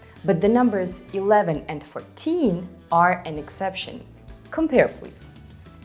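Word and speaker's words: четырнадцать: And by the way, this is how 11 sounds in Belarusian, but in Russian it is 11, 14.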